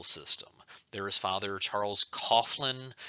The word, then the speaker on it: Coughlin: There is Father Charles Coughlin. It might be pronounced Coughlin. I've heard it pronounced two different ways.